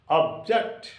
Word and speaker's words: object: is a trisyllabic word for example object of o B jacked okay object so there are two syllables here of it is a single syllable and the stress should be on o object clear it is a